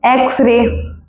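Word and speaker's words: X-ray: ये देखो एक्स रे एक्स यहां पे किसका साउंड हो रहा है? ये वाला साउंड हो रहा है। है ना? एक्स रे ये वाला साउंड हो रहा है। तो क्या आएगा? एन। एन आएगा। एन आर्टिकल का यूज़ होगा।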